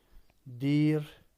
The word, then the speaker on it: دیر: دیر، اس کو تلفظ چونکہ فارسی میں جہاں پہ بھی یائے معروف آتی ہے یا 2 نقطوں والی یہ آتی ہے، وہاں پہ ڈبل ای کے ساتھ تلفظ کیا جاتا ہے، تو اس کو آپ دیر پڑھیں گے۔ اور دیر یا دیری